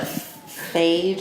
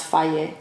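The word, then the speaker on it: Fage: But they always have like a little thing at the bottom that says pronounced Faye.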